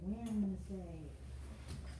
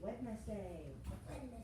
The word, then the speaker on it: Wednesday: We're not going to call it Wednesday. That is sort of a mispronunciation, and it makes people spell it wrong. We're going to say Wednesday. Wednesday. So you can remember how to spell it. If I say it slowly, Wednesday. If I say it quickly, Wednesday.